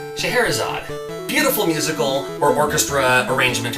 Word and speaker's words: Scheherazade: i don't know how to say it it's scheherazade scheherazade beautiful musical or orchestra arrangement or something like